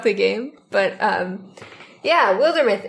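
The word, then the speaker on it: Wildermyth: and it's called uh wilder myth some people pronounce it wilder myths the devs don't care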